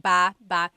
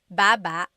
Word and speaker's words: baba: could be ba chin baba. Emphasis is on the first syllable. Baba. Then there's babba baba. Emphasis is on the second syllable syllable. That means to go down. Baba, like going down an elevator.